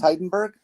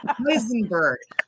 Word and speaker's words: Heisenberg: So your last name is Heidenberg? Is that? Ow. No. Heisenberg. I didn't hear that correctly the first time.